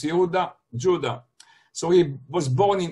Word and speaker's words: Yehuda: so people mistakenly call him Yehuda, but it's Yehuda, Judah.